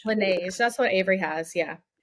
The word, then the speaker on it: Laneige: There's one called, I don't know how you pronounce it, Laneige. Laneige, that's what Avery has.